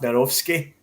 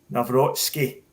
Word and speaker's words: Nawrocki: Now, in terms of the Polish centre half, Narovsky, I think I've got that pronunciation right. Is that right, Gav? Nawrocki, I think, isn't it? Nawrocki.